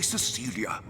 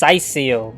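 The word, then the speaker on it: Cyseal: husband of the stately Cecilia. I've been the mayor here for decades, and I'm quite eager to see Sicil through these difficult times. Yes, very difficult times indeed. So it's pronounced Sicil, not Cecil.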